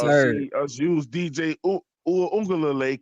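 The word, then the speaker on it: Uiagalelei: see us use DJ Uungalele correctly. Man, you gotta say that name right, bro. That's gonna be I your said it right. quarterback. I said it right. Uwe, Uungalele. it's Uwe Unga Lele, bro.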